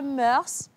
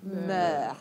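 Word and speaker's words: mœurs: Non, on dit pas murse mais on dit la musique adouc les meurs. Donc vous prononcez pas le s à la fin.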